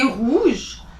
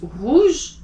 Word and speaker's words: rouge: Now for the R, it's not at the tip of the tongue, and it's not at the end. R. It's not r, it's not r. It's somewhere in between. So it's right here where you say rouge. So moulin rouge. It's not rouge, it's rouge. So again, back at the throat, rouge.